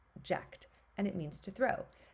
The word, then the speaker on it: ject: our base element is it's je C usually pronounced jacked and it means to